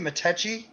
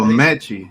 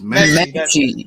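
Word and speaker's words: Metchie: Oh, Mechie. It's Mechie. Mechie, okay. I want to say Matechi. Why did you say Mechie, yeah.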